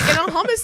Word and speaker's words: hummus: It's like hummus and pita. It just spreads on their skin. It's pronounced hummus. Hummus.